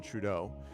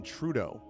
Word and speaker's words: Trudeau: They always pronounce the first syllable, emphasis on the first syllable of his last name.